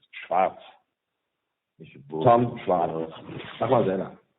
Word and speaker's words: Schwarz: S. Schwarz means black in English, and no Schwarz and no T inside. It's Schwarz.